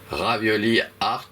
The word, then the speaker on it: ravioli art: mot oui ravioli art on peut prononcer à comme si c'était à l'anglaise art donc ravioli art en un seul mot on